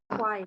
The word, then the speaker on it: choir: Careful with the pronunciation of the word choir. I know it's Choir. it doesn't make any sense, but choir. Okay, choir.